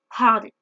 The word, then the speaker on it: hardly: Maintenant, on va voir quelle est la différence entre hard et hardly. Première chose, avant de commencer, hard et hardly, on prononce bien le H.